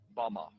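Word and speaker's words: במה: which Satan fell is strong Hebrew word 116 pronounced Bama Bama is most commonly used to refer to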